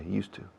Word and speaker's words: used to: Y se juntan estas dos palabras de una forma tan dinámica que suena al monasterio de Yuste, cambiando la E al final a la U. Imaginad que cambiáramos por decreto ley el nombre de ese monasterio y es monasterio de Yustu. Pues así se pronuncia, used to.